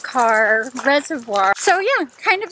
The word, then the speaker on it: Kerr: John H car damn it is pronounced car but it looks like it would be pronounced Kurtz keer are but pronounced car